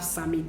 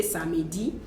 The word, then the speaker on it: samedi: It's just the way we have samedi. Some people say samedi, some people say samedi.